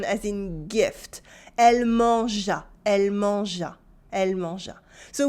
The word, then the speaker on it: mangea: Yes, if we want to dig into pronunciation, you might wonder why there is a silent E in there, and that's a good question. It's there to remind you that you use it as a soft sound, as in giraffe, and not a hard one, as in gift.